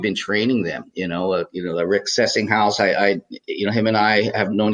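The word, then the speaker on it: Sessinghaus: Apparently Sessinghouse, it's pronounced Sessinghouse? Yes.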